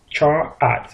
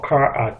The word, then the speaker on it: char: like to talk about is Char or car depending on how you choose to pronounce it but that really